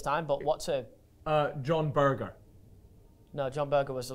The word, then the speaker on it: Berger: Now, this Berger is spelled B-E-R-G-E-R, so it's like Berger. Instead of burger, it's Berger.